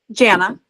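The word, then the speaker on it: Janna: Jana. Jana. Okay. As Okay, you know, beautiful. for my whole life, I've said it's like Jana banana.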